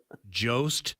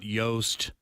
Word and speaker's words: Jost: you are okay so I show the Jost not yoast mother mother up here